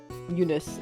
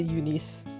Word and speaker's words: Eunice: Eunice, actually. That's how you pronounce it. I don't know why I say Eunice.